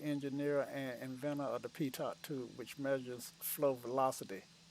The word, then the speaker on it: pitot: P I T okay but you're right it's p i-- t OT and but it's pronounced topito french and that's my lesson today